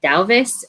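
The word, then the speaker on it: Duyvis: that it was like the first part which is d-u-y is actually pronounced like the owl sound in-house or something like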